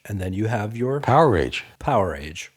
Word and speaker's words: Powerage: Let's talk about the fan favorite Power Age, which, by the way, I pronounced incorrectly for most of my life. Is it Power Age or Powerage? No, I used to call it Powerage. I don't know why, but even Slash pronounced it that way until I heard an Angus Young interview, and he said something like, you have your Ice Age, you have your Stone Age, and then you have your Power Age.